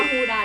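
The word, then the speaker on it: Huda: นะ คะ ของ ฮูด อ่าน ว่า ฮูดา หรือ ฮูด้า ถ จะ อ่าน แบบ ไทย ก็ ฮูดา ถ้า อ่าน แบบ ฝรั่ง ก็ ฮูดา ฮูดา นิกา นี้ เป็น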